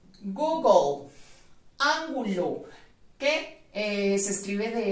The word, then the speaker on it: Google: suenan como tú y vamos entonces a suprimir en la pronunciación light del final nos quedan la g y la l en medio de estas dos consonantes también agregaremos la letra o en la pronunciación nos queda entonces google goog el ángulo que se escribe